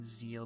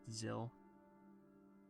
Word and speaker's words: Zill: I'm saying zeal, but it's apparently just zill. It's pronounced zill, rhymes with pill.